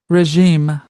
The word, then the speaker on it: regime: Regime. Oh, no. I love it that I listened many times and now I said it wrong. Sorry, guys. Regime. Not res, this stress level, right? It's the regime.